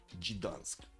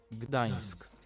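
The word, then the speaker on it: Gdańsk: Gidansk. How do you No. No. Gdansk. Gdansk. Okay. There. So, I did the Okay. Not perfect pronun pronunciation cuz I put a little bit too much s into it.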